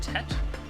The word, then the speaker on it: Tet: So, in order, this is Tet. Let me, edit my little pronunciation guide.